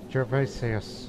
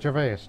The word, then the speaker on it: Gervasius: It's Gervasius, not Gervais, Gervasius.